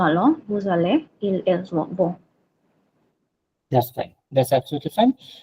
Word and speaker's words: vont: Sir, N won't be pronounced, like il, elle, vont.